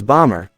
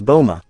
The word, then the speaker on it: Bomber: with her Sakura self I know the name is bomber but in Japanese it's said is Boma so it is you